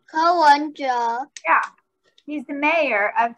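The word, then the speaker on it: Ko Wen-je: Ko Wenja.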